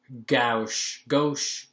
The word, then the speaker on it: gauche: it's like sort of gauche, it's pronounced gauche, right? Gauche.